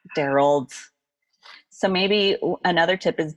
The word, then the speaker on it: Darold: it feels a little every time you said darald I felt like you were like about to